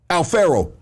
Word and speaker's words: Alpharaoh: Alpharaoh.